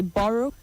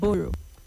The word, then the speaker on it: borrow: So you say borrow, not borrow.